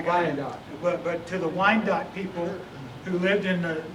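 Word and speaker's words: Wyandot: preach to i did not know how to pronounce the tribe but i got it but to the wine dot people who lived in the the sandusky area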